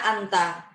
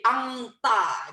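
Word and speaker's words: أنت: Anta, N-nya itu sudah nggak seperti N biasa, jadi agak sedikit ada nasal. Anta, anta. Cuman kalau kita orang Indonesia terlalu lebay jadi angta gitu.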